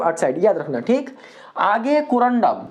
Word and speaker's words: कोरंडम: तो आप लोग इसको कोंडम पढ़ना है ना कितना इसको कोंडम पढ़ देता है तो कोंडोम मत पढ़ना ठीक है ना इसको अच्छे से उच्चारण करना क्या पढ़ेंगे कोरंडम ना कि कोंडोम ठीक आगे है क्या